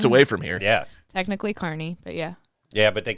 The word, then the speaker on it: Kearney: Because that's always what I think of when I say Carney. Yeah, because I didn't even say. I was saying Kearney because I hadn't heard of this place. I was like, "Oh, you're from Kearney." She's like, "It's pronounced Kearney." I'm like, "Oh, Like you've a lived in Carney.